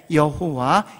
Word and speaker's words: 여호와: 그래서 나중에 하나님의 이름을 모르고 발음은 해야 되는데 어떻게 할까 해서 YHWH 자음에다가 아도나이의 모음을 더해가지고 그래서 야훼, 여호와 이런 발음이 나오게 된 겁니다.